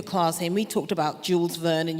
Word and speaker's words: Jules Verne: And we talked about Jules Verne, and you corrected the French pronunciation, Jules Verne, and H.G.